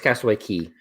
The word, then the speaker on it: Castaway Cay: is a big question is it cast it's spelled Castaway K yeah but it's Castaway key why why because it's a Caribbean man I'm calling somebody on this that's how you say it I I when I